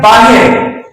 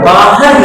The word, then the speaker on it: باہر: تلفظ ادا ہوتا ہے باہر، تم باہر جاؤ، وہ باہر سے آیا، وہ باہر گیا ہوا ہے، لیکن صحیح معنوں میں جو تلفظ ہے وہ باہر ہے، ایک کے اوپر زبر ہے۔ اسی طرح عام بول